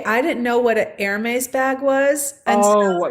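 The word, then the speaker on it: Hermès: Okay, I didn't know what an Hermes bag was. And so, Oh, yes. I got here and I called it a Hermes.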